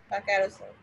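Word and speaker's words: carousel: ইউ এ সি এল ক্যারোসেল উচ্চারণটা দেখে নেবেন এস এর উচ্চারণটা অনেকটা জয়ের মতো হয় এখানে ধন্যবাদ এখানে একটা ক্যারোসেলটা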